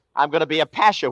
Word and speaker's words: pasha: I'm going to be a pasha with the accent on the pash.